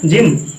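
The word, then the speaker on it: gym: बेटा जिम का नाम सुना है, जिम, हाँ, तो जिम में जी के बाद वाई आता है, हम जी के बाद वाई आएगा तब भी हमें जी का उच्चारण जा करना है।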